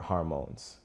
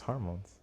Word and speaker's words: hormone: equivalent to love pause you be saying harmone harmone yeah is am I saying it wrong my accent sometimes I don't want to say it's wrong it's just funny that you say hormon it's hormones it's spelled h a